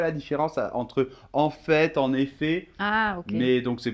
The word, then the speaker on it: en effet: Alors, au niveau de la prononciation, là, attention, on ne prononce plus du tout le T final. Hein. C'est le en, la nasale, et il y a la liaison, d'accord? Donc, ça fait en effet.